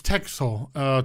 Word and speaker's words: Texel: It was Texel. Tech as in tech. technology.